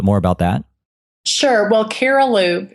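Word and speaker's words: Cariloop: a little bit more about that sure well caral loop it's spelled c a r i l o o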